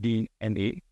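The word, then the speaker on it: DeNA: It's written as Dina, but it's pronounced D-N-A, which is a huge public listed entity out of Japan.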